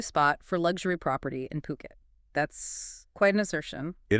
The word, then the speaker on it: Phuket: The place is pronounced Phuket.